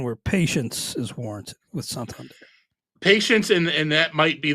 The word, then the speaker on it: Santander: We had a question in the chat from Roxana about Anthony Santander, I believe it's pronounced, and I think there is still plenty of reason to be optimistic.